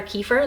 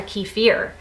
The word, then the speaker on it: kefir: on water kefir online, I found it pronounced 2 different ways. Water kefir, like I'm saying it, and water kefir, which I had never heard it pronounced before, but I heard it online somewhere pronounced like that and I looked it up and sure enough, it is pronounced both ways.